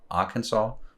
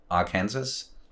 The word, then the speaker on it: Arkansas: think of is like the two states, Kansas and Arkansas. Why not Arkansas? Why are we pronouncing that different all of a sudden because there's an A and an R in front of it?